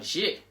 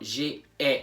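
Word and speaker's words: j'ai: it with an apostrophe that's why we have g and not j e not two syllables not two syllables but one not j e just one syllable next one is two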